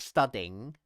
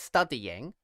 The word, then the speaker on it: studying: I go into the in studying it sounds like there's a y sound okay so yes in studying we certainly have three syllables three vowels it's not studing so yes you see she said is it studing or what she yeah or studying so the answer is it's studying and um there's a